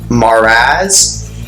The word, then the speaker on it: Marax: Marax, pronounced as Maraz or Maraz, can bring perspective to